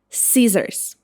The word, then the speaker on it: scissors: It should be pronounced like Caesars.